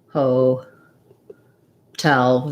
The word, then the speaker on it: hotel: on the tail syllable so it just sounds like ho tell the true t again use your strategy of saying your second syllable your stressed syllable first then just add your first unstressed syllable as a short little stepping stone tal hotel same thing happens for